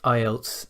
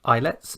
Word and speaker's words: IELTS: together to create ielts notice it is not islets and never has been islets so don't pronounce it like that or write it like